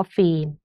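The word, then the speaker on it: ฟิล์ม: ตก อื่น ๆ นะ คะ เช่น คำ ว่า ฟีม เงี้ย นะ คะ ก็ จะ มี ตัว การัน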